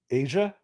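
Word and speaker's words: A'ja: I just want to know if you can pronounce it. Okay. It is A''J' Wilson. Nope. Asia?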